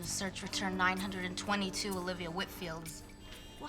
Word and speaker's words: Whitfield: next week can just wanted to get the pronunciation of her last name correct Whitfield Whitfield well that's what I thought and how do